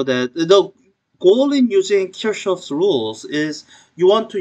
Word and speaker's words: Kirchhoff: So I think the correct pronunciation of German name is Kirchhoff, and you'll see it pronounced as Kirchhoff by some people, and maybe Kirchhoff by some other people.